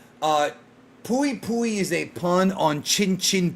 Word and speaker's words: Pui Pui: It's Pooie Pooy. In the manga they call him a Pocus, but that's wrong. It's pui pui and that's because but pocus is not entirely wrong. Uh pui pui is a pun on